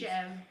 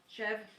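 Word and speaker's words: chèvre: chev.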